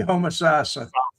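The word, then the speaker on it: Homosassa: Okay, Homosasa. Yeah, the stress is on the third syllable.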